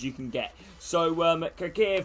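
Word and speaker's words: Çakır: can get so um kakir from uh cac here is they pronounced his name the turkish goalkeeper from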